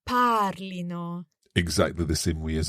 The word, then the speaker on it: parlino: the accent there because we don't want to emphasize the ending you know probably the Temptation is to say it wrongly padlino but it's actually the emphasis on the stem parlino exactly the same way